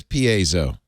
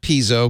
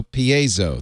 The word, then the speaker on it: piezo: no electric electrically so it is Piezo piezoelectric not piso Piezo there's two syllables learn something you were